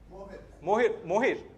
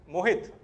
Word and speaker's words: Mohit: Mohir. Yeah. Mohit. तो टी का pronounce करना बेटा, बैंड्रा वैसा तो क्या हुआ?